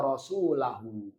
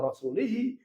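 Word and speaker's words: وَرَسُولَهُ: fathah karena Isim Mufrad maka bacanya Innallaha wa rasulahu bukan Innallaha wa rasulihi bukan pula Innallaha wa rasuluhu karena yang setelah huruf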